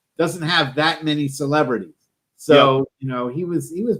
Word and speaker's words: Seuss: year was that apparently it wasn't even pronounced seuss it was pronounced soy like it rhymes with voice really yeah i always